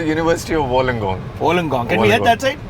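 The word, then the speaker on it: Wollongong: what is the name like how do you pronounce the University's name it's called University of Wong wenong can we head that side let's go okay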